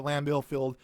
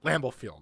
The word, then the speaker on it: Lambeau Field: field there we go lambeau field there we go i know i sounded like it came off different from my tongue so then going back